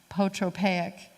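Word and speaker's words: apotropaic: So we have this term from the Greek, the A is silent, so it's, let's see if I can say it, potropaic, and it's concealing objects and buildings to ward off evil spirits.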